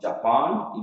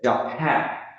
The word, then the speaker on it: Japan: But here, the word is not pronounced correctly, not Japan. It will be the second syllable is stressed. We have to say Japan.